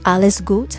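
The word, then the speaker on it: alles gut: leave you with this alice goot which is a german phrase for all is good okay it's spelled a-l-l-e-s that's alice goot g-u-t alice goot thank you so much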